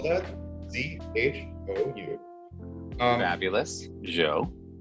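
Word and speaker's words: Zhou: was a really long time ago and the joe dynasty of china arguably the first real imperial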